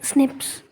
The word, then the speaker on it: SNPs: base DNA differences snps single nucleotide polymorphism pronounced as Snips occuring humans so this